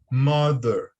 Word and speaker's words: mother: E a pronúncia correta é mother, mother, mother, ok? Note que o som do TH aqui, ele parece com o som do D, tá bom?